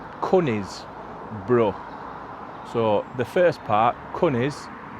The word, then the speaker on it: Conisbrough: Anyway, brough, you just say it like your brother, won't you? Brough. Conisbrough.